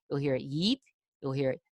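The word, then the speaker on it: Ypres: cry there's mes there's yeep which nobody knows how to pronounce you'll hear it yeep you'll hear it you'll hear it wipers when the British are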